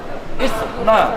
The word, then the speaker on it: Istna: Namamu kok sulit dibaca ini? Siap, ISTNA. siap, Itu salah tulis nggak? siap, tidak. Jadi bacanya gimana? Nah, ISNA. siap, Artinya apa itu?